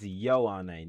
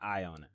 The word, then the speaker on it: Ioane: It's Ioane, not Ione.